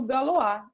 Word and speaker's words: Galois: pouquinho da história do galoa e das equações algébricas tá bem Bom vamos lá então pessoal é o nome é galo a mesmo tá ele é francês se escreve Galois ou